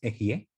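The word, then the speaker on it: אהיה: Cuando muchos le preguntan, ¿quién diles que te envía Equie? El nombre, la pronunciación correcta es Ejie, pero para no mencionarla, ocupamos Equie, con caca.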